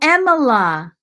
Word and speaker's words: Emila: It's just it's like Emily, just say "la" instead of "lee." Amila. What was I saying? Was I saying something else? Oh, Emila. Oh, so I was saying it wrong. I think I was kinda saying it like if you were Spanish because I was emphasizing that middle syllable.